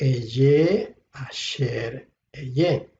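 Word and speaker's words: אהיה אשר אהיה: Se pronuncia entonces Eye, Asher, Eye.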